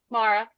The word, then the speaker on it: Maura: Mara. Mara. Yeah, I always have. Oh, I've been calling you I always Maura. think of doing Maura. Maureen. It's pronounced somewhere between Mara and Mora.